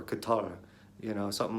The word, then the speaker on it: Qatar: able to say it a true correct way which is more like guitar or Katara you know something like